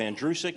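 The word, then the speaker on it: Andrucyk: it is in reality my last name is pronounced like the boy's name andrew who is sick you run it together you have andrew sick it's that simple it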